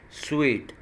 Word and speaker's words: suite: This word will be pronounced as sweet.